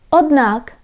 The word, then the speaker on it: Однак: Однак, however. Однак. Однак. So you can see we have here this letter D, but it sounds like silent. Однак. I don't say однак. I don't pronounce like this. Однак.